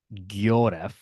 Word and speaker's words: Yoris: So, not that we need to spend time on this, but like the proper way to say it is actually Gyoref, Ooh, except when my